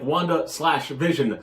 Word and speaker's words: WandaVision: You said Wanda like Wanda/Vision. WandaVision. I thought you said WandaVision like one word. It is one word. It's not Wanda dash, Wanda slash. It's WandaVision.